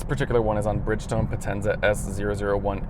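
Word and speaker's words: Potenza: grand tour this particular one is on Bridgestone Penza s001 L that's the correct way to say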